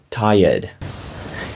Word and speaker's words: tired: Ti red, тому що і йде після r, але вимовляється навпаки ніби воно перед r.